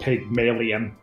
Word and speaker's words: Pygmalion: And Pygmalion is an old play about trying to teach a woman to be a proper woman or whatever, but it's spelled Pygmalion, like alien.